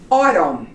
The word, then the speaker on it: autumn: have exceptions in here when the N has an M in the front like these words and other words we will not pronounce the letter n as in autumn it goes up to here autumn column you don't pronounce the end him and is out solemn okay did your understand